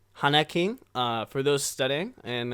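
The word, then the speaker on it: 花金: hanak king that's uh if you guess if you were to spell it out it'd be like h a n a k i n Han King uh for those studying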